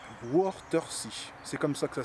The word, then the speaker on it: Wörthersee: D'ailleurs, j'englobe l'Allemagne, parce qu'une grande majorité d'Allemands viennent à l'endroit où je vais aller, à Wörthersee. C'est comme ça que ça se prononce.